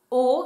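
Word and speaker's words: 大: Le kanji de grand, qui se prononce donc O, c'est le O de Oki, qui veut dire grand,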